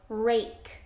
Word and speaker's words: rake: going to say ah but when you see that E at the end that means it's going to make the a say its name rake let's try another one